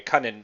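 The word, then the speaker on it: Kunin: by the way is the way Han was pronouncing it so I'm gonna oh yeah did I say coonan I I keep screaming I know I I had been saying that throughout anyway Conan I'm gonna I'm trying to correct myself not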